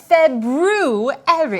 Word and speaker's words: February: we are currently in oh oh the proper pronunciation for the second month of the year is February I know that because of see not that